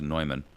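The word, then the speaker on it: Neumann: company it's a company by the name of nyman it's spelled like Newman but it's pronounced nyman they are um the Holy Grail if you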